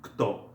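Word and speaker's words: кто: It is pronounced kto.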